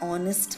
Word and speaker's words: honest: So we can hear the O sound.